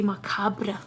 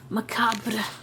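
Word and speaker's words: macabre: I've learned recently that in uh in the West you guys don't pronounce the R, but in Romania we do. We say Macabra. Macabra.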